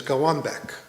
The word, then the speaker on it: Golbeck: but the difference is L's are not pronounced as L's. They're pronounced as W's. So my real last name is Gawbeck and you all have